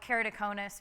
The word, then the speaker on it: keratoconus: and then we'll talk a little bit about keratoconus which is um everybody nobody knows how to pronounce that everybody's always keratoconus so i'll tell